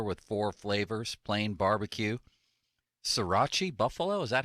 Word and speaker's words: sriracha: wings one platter with four flavors plain barbecue sriracha buffalo is that how you pronounce that hokey sriracha yeah sriracha sounds good to me and garlic